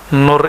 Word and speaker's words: nur: Nur itu ada dua.